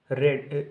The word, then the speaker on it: read: इसी तरीके से होता है रीड, रेड, रेड, रीड, लेकिन उसके सेकंड फॉर्म को हम प्रोनाउंसिएट करते हैं रेड, READ।